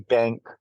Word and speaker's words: BVNK: The name of their company is called Breaking Bank, Okay. and bank is spelled BVNK.